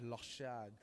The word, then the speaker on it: Lochard: a name local shot it's actually a French French pronunciation from my Haitian family my mother's side my grandmother's side they're all from Haiti so the Creole French yeah it's lost shad so with all that